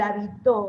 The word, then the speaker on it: habitó: Yo me quedo con el habitó, el acento en la O final.